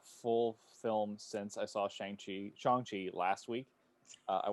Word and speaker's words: Shang-Chi: ourselves so feel free it's it's shangchi everybody shongxi yeah but yeah since